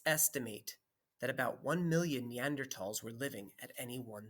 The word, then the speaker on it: Neanderthal: a funny word because the th is pronounced like a t usually here i go neanderthals first people on earth